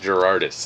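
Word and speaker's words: Gerads: Mitch Gerardis, that's it.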